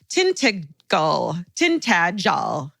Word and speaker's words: Tintagel: The same day we visited a little further along the coast of, thankfully they told me the pronunciation, Tintagel Castle.